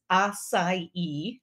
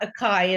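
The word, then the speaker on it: açaí: point marilyn johnson says 16 across is acai and not akai as i used to say hey we all learn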